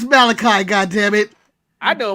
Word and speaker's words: Malachi: You got his name wrong. It's Malachi.